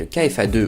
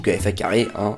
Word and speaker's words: KFA2: Pour la carte graphique, j'ai choisi de prendre une GTX 1060 en version 6Go de la marque KFA2 ou KFA carré, chacun prononce comme il veut.